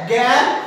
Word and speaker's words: জ্ঞান: অর্থাৎ এই উচ্চারণটা হবে এটা উচ্চারণটা হবে গ দিয়ে গ বা গ গ্যাপ